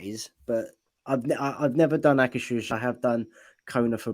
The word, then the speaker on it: Akershus: But I've never done Akershus.